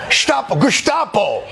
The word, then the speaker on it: Gestapo: In America, we pronounce it Gestapo.